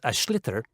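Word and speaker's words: sliotar: basically you have to get this ball called ash litter that's SL IOT a or so it's not spelt the way it's pronounced u his ears into the net for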